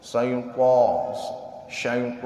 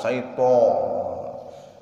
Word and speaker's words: syaiton: To-nya syaiton, bukan syaiton.